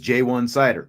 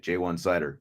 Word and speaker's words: Ja'Juan Seider: Ash as well as new running backs coach jwan cider and in case tommy guns is in the house he was asking for the official pronunciation it is jwan cider we got that official today jwan cider is how it said but we're gon to